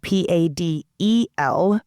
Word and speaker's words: padel: And while we're listening, paddle is spelled p a d e l and some people in different parts of the US call it padel, but in Texas, most